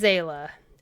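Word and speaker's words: Seele: Whole first section of Honkai Star Rail I just played in Japanese and I was hearing all the names pronounced differently. It is Zayla.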